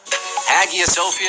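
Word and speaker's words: Hagia Sophia: Greece ie a Sophia agia sofia if you want to be real and correct about it there's a Sofia in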